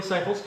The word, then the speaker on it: Cyples: So you to get to know Joey Cyples, and that's how you say it, Joey Cyples.